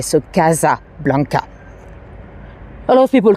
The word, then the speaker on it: Casablanca: eventually it was renamed Casablanca we pronounce it the French way so although it should